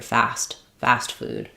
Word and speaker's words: fast food: It's not dropped, but it's not u necessarily strongly articulated either. Fast fast food. Fast food. So, we might just use an unreleased tea there. Or we might pronounce a little light tea.